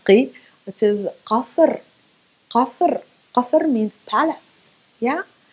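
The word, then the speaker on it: قصر: We need just to pronounce it from the back of the throat, just a simple K from the back of the throat, and you're okay.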